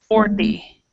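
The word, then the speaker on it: forty: One idea to pronounce that is to pronounce it like this. Just try to make it with a D. 40.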